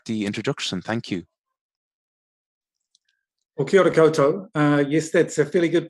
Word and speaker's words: kia ora koutou: Well, kia ora koutou. Yes, that's a fairly good pronunciation. Yes. We say in my country, New Zealand, kia ora koutou, which is Māori for greetings to you all.